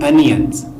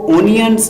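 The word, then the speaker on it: onions: Chop the अनियंस, इसको ओनियंस नहीं pronounce करेंगे, ये गलत प्रोनाउंसिएशन है। तो करेक्ट प्रोनाउंसिएशन है अनियंस।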